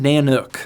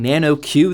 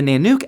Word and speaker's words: Nanuk: to the Thor Zone nanuk I actually still don't know how to pronounce this I was saying Nano Q the entire stream but got told towards the end that it's nanuk at least that's what I